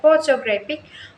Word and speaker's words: photographic: For example, in the word photographic, the stress falls on the first syllable photographic, but there is also a later stress on the third syllable.